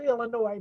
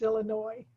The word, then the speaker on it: Illinois: It's a strange way to spell a name that's called Illinois, but that's the name of the state is Illinois.